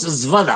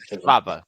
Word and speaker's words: Schwab: Klaus Svada, No, joder. Schwab. Primero como Schwab y después con A-B-A. Svada. Schwab. Difícil, difícil.